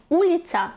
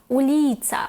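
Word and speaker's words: ulica: Тобто, наприклад, не уліця, як би нам хотіли сказати, а уліця. Не студент, а студент.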